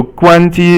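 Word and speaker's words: 关机: So 关机 is all first tone, as you can hear, and it just means shut down.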